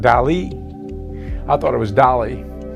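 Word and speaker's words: DALL·E: thought it was do it's spelled D A L L E but I think it's pronounced Del Accent on the E like me same P pay as it were with the accent anyway I digress but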